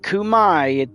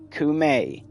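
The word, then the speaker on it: Khora: Not Kumai, it's Kume. Like Ku as in like you're killing the king to force a new king or take the spot of the king, and then May, like may I.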